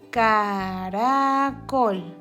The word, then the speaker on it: caracol: S, caracol. Está entre dos vocales y su sonido es débil.